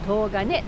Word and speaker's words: 東金: 東に金と書いて唐金と読む、ま、そんな